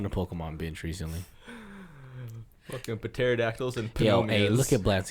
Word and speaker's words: pterodactyl: about the Pete yeah that's actually spelled with the PT yeah and that's why it's called pronounced Petare adaptable yeah yeah but pterodactyl okay stupid wait is it pterodactyl it's pterodactyl all I'm thinking [ __